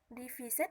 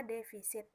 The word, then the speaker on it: defisit: yang seharusnya dibaca defisit divisit yang seharusnya dibaca defisit atau kekurangan dalam anggaran belanja selanjutnya ada ong au